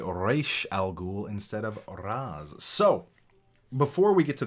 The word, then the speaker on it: Ra's: And in the Arabic pronunciation, it is Raz. Now, Raish is not incorrect. It is the Hebrew translation or pronunciation, and the creators of Batman being of Hebrew descent.